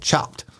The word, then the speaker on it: Chopt: So there's a New York City area salad shop / restaurant franchise called Chopped, CHOPT.